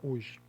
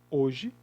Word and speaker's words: hoje: Hoje é constituído de 4 letras. Mas é constituído de 4 fonemas? Não. Quando a gente pronuncia a palavra hoje, o H ele fica mudo, ele não é pronunciado.